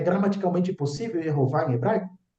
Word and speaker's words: Yehová: Ele vem de Yehová. Vai dizer que é gramaticalmente impossível Yehová em hebraico? Dentro da fonologia do hebraico, nós temos a primeira sílaba, erro. É uma sílaba aberta, pré-tônica, com vogal longa.